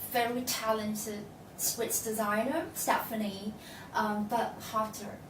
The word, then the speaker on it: Burkhalter: up with a very talented Swiss designer, Stephanie Burkhalter, right? Yes. Is that the right pronunciation?